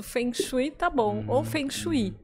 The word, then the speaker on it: Feng Shui: Shui ou Feng Shui então a pronúncia há vários tipos de pronúncia porque o Feng Shui Na verdade tem origem na China e existem muitas pronúncias porque existem Várias escolas de fenu aqui no Brasil eu prefiro falar fenu mas há quem diga fui há Também quem queira falar um pouco mais né sofisticado que original fonu ou